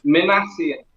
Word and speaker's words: Minasian: And then the last name is Minasian. And that's Minasian. Minasian. Now, if you wanted to read it like you were reading it, even though it's not the proper, it would be Min, M-I-N, Asian, Yeah.